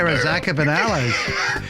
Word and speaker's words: Galifianakis: is how you say it, Galifianakis. It's Greek, You know, right? Greek? It is Greek.